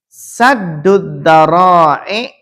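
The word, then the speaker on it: سد الذرائع: Saddud dara'i, saddud dara'i. Nah, bacanya gitu ya.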